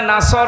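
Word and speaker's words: نصر: পড়ে ইজ আসরুল্লাহি ওয়ালফাত বয়ে এখানে সদ আছে নাসর মানে সাহায্য আর নন সিন র নাসর মানে এগল পাখি আপনি যদি মুখটা গোল করে শুদ্ধ উচ্চারণ না করেন অর্থ আকাশ পাতাল পাল্টিয়ে যাবে।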